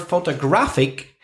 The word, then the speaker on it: photograph: So photograph, it's on the first syllable.